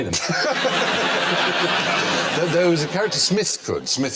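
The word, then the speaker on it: Psmith: there was a character Smith could Smith who spelled his name with the silent P could tell when people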